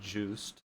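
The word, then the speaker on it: Joost: chapter called juiced yeah is it juiced or jost because it's spelled like juiced but the i've re i listened to the first chapter it is said juiced his name was used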